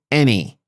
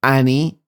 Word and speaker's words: any: Look, the pronunciation is any. Pay her any attention, not Annie or Annie. It's any attention.